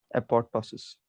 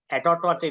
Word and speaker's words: apoptosis: So this keeps on happening and this happens due टू, बोलो बे, एपोप्टोसिस। एटोटोसिस नहीं, एपोप्टोसिस, दोबारा बोलो।